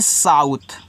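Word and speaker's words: south: एस ए यू टी एच। तो इसको पढ़ते हैं साउथ।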